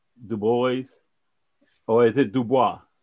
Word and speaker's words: Du Bois: So I want to welcome Brother Du Bois, or is it Dubois? How you pronounce it?